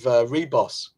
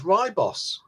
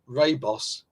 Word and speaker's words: Ribos: Retro Resolution has yet another pronunciation of Reboss. I always read it as Ribos. Seems that's incorrect. Well, I don't know. I honestly don't know. So now how many pronunciations have we got now? Reboss, Ribos, Raybos, Ribos. We should do a poll.